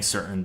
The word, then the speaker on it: certain: The thing with the Colorado accent that mainly throws it off is that we tend to pronounce anything with a T-A-I-N in its spelling, like certain or mountain. Like we just kind of cut that out. The way I pronounce it is mountain or certain.